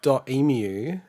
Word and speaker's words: Dotemu: the nintendo indie world they call it dotemu it's like three syllables how do you spell it d-o-t-e-m-u so i was reading it as dot emu did you say it